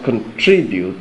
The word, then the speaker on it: contribute: is pron contribute contribute so where is the stress in the pronunciation contribute the stress is on the second sy contri contri so the